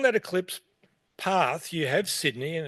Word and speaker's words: Sydney: Local pronunciation, nobody says Toronto. Nobody goes to Toronto. In the same way, nobody goes to Sydney. It's Sydney. So what do we know about Sydney?